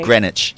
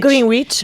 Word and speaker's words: Greenwich: them that's right and another place in London is green witch okay Greenwich Greenwich Gren not green witch no no no no